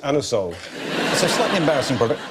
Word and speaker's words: Anusol: You can't ask for anusol in that way in a shop. You have to pronounce it anusol.